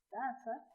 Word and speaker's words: tasa: Bien, entonces nuestro segundo ejemplo es la palabra taza, donde en el primer caso se escribe con Z, T-A-Z-A, taza, y en el segundo caso suena de la misma manera y sin embargo se escribe T-A-S-A, taza, y tiene un significado totalmente distinto.